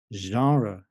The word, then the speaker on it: genre: rare in English and normally when we say this sound at the beginning of a word it is borrowed from another language mostly French like in the first example we have the word genre now genre means style